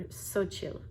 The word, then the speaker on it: Xochitl: So when I have gotten tortilla chips, which I don't get them very often anymore, I get the Xochitl brand, or Xochitl is how you say it.